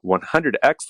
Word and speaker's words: 100X: So your book here, The 100X Leader, or do you pronounce it internally in your head 100 times leader? No, I say 100X. You say X.